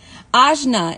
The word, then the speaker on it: Ajna: Ajna is how you pronounce my name.